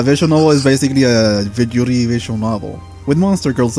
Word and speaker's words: yuri: Okay, so Yeah, it's basically a yuri visual novel.